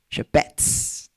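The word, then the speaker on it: חפץ: Chapets. Lindo demais. C H E P H E T SP jeito certo de falar, mas Shepets é o que tá escrito.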